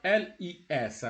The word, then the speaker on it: les: So you have les. So les normally is pronounced le.